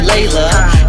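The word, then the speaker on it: Leila: Her name's spelled L-E-I-L-A, but you pronounce it Layla.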